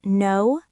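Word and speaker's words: know: Is the K in no silent? Yes, it is. We don't say cano. We just say no.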